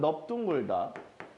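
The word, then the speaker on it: 넓둥글다: 자, 넙은 두 단어에서만 비읍으로 읽습니다. 언제? 하나는 넙둥글다. 또 하나는 넙죽하다. 이렇게 두 단어에서만 넓은 비읍으로 발음한다고 생각하시면 편합니다.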